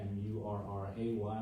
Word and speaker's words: Murray: of the word as it sounded, Murray, M-U-R-R-Y, M-U-R-R-A-Y, when they were getting fancy, but it's always been called Murray instead of Moore.